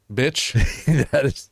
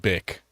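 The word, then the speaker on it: Bich: Well, I want to get to the mother, Bitch. that is the most awesome fucking name ever. It's actually pronounced Bick. It's spelled bitch.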